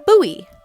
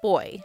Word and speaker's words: buoy: beach this yellow thing in America we call it a buoy in Britain they call it a boy but it is spelled the same way in America we